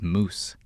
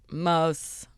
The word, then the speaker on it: Moos: For some reason, I assume it's Moose. She said it on air, but it's like Mose. Jeannie Mose. This is how she says it. Jeannie Mose.